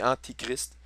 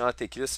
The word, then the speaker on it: antichrist: Oui, toutes des il faut vraiment je fasse attention à ma prononciation. C'est antichrist qu'on m'a bien expliqué puis je suis d'accord avec ça. Mais donc prenez pour acquis que si je dis antéchrist, c'est antichrist que je veux dire.